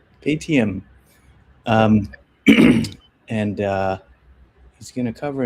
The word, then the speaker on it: Paytm: Patum? It's ATM. Paytm.